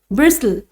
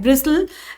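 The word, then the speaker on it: bristle: ब्रिस्टल, T silent होते हैं, ब्रिस्टल।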